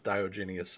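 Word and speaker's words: Diogenes: Uh Bennett F says Dioenius. I think I think that's his uh British accents clashing with the uh Latin name there. Um which I like Dioenius better. That sounds cooler, but I think proper pronunciation is uh Dioenous.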